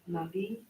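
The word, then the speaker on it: נביא: In this situation, the aleph is silent.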